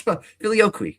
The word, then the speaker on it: Filioque: Okay, that's Filioque.